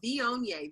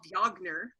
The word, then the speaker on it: Viognier: So Viognier, Viognier, which I called Viogner until somebody's trained me better.